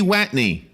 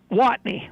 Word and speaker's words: Watney: Heidi Watney. Heidi, it's wacky. You're saying it wrong, and now it's messing me up. What is it? Yes, I know Heidi. Watney? Watney.